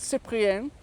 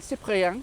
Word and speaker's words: Cyprien: Cyprien, maybe Cyprien. Cyprien, Cyprien, like rien. Je ne regrette rien.